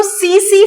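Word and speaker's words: tsetse: तो सीसी फ्लाई, यहां पर टी साइलेंट है फ्रेंड्स।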